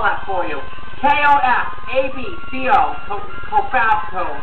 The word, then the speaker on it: Cofabco: I'll spell that for you. K-O-F-A-B-C-O. Cofabco.